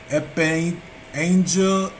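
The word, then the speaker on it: epangelia: We have promise, and it is G 1860, Greek 1860, and it is Epangela, and it's spelled EPAGGELIA.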